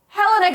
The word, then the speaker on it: Helena: back and confronts her is it Helena or Helena it's Helena I've been saying it wrong this